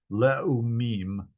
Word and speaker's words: Leumim: See, I pronounced the and the u separately. Leumim.